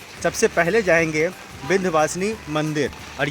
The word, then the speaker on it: विंध्यवासिनी: कहीं आपको देखने को मिलता है विंध्यवासिनी, कहीं होता है विंध्यवासिनी। सही प्रोनाउंसिएशन तो यही है कि विंध्यवासिनी, और विंध्यवासिनी माता हैं